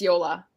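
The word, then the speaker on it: Jóla: help me yola so it's like it's like yolo but it's yola yola boca float yo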